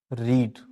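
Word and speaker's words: read: 3 होती है, लेकिन तीनों का ही प्रोनाउंसिएशन अलग अलग होता है, इसको समझ लीजिएगा। फर्स्ट फॉर्म में आप इसको पढ़ते हैं रीड, सेकंड में पढ़ते हैं आप इसको रेड, थर्ड में भी आप इसको पढ़ते हैं रेड।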